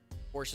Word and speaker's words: Porsche: Porsche is the correct way to say it.